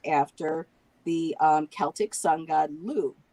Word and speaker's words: Lugh: was actually named after the Celtic sun god Lugh, Lugh, who, gave the sun for growing the crops there.